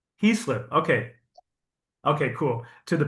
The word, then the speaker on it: Heaslip: I'm very pleased to welcome the amazing women's physique proathlete, Wendy, and I didn't I forgot to ask pronunciation your last name. He slip. Heeslip.